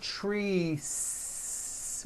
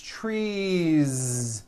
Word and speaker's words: trees: tree or two trees it's not trees with an unvoiced s it's trees with that voiced ending you see that another